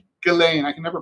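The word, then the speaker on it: Ghislaine: Galain. Galain. I can never pronounce Gain.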